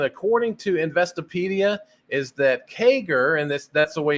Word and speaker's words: CAGR: interesting the definition according to Investopedia is that kager and this that's the way you pronounce it as kager but this is what